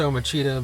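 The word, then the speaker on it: Omici: is a great song It's pronounced om MAA but it is spelled om i c i yes so look these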